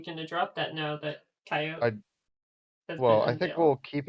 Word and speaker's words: Cheyote: this channel um yes coyote is how you say the fruit it's how you say the jailbreak yes outside of the